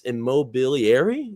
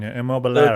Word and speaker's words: Immobiliare: the stake in this immobiliary. Is that correct, Kyle? It's close enough approximation to the pronunciation. Immobiliare. Okay. Yeah, very good. Italian, yes.